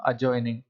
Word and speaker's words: adjoining: एक नोटिस लेंगे कि अगर कोई भी वर्ड उसके अंदर एडीजे, ये 3 लेटर्स का कॉम्बिनेशन आपको मिलता है, तो डी वहाँ पे साइलेंट हो जाता है। तो इसे क्या बोलते हैं हम? एडजॉइनिंग। अगर हम ADJECENT की बात करें, तो द वर्ड इज़ एडजेसेंट। तो जहाँ भी एडीजे आता है, उसमें आपको क्या करना होता है? डी को साइलेंट करना होता है।